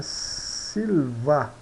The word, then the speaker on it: silva: Sil Silva né Silva então o i o i aqui é um I longo né e o a é é breve né Silva né observa-se que o i é mais longo na pronúncia né you a uma pronúncia mais curta então las las vocales